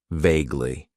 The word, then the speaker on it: vaguely: Then we have an adverb that I like to use, and that is vaguely. It has 2 syllables, and the stress is on that first syllable. Vaguely.